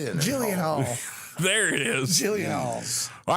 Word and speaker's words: Gyllenhaal: He said, I said it that way because that's how it's spelled. How do you say it? I can't even say it wrong. Gyllenhaal. Gyllenhaal.